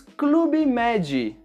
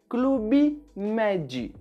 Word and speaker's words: Club Med: No Brasil, nós falamos Clube Med. E sempre que temos palavras estrangeiras que terminam com uma consoante, adicionamos esse som de I para ficar mais fácil de pronunciar. Clube Med.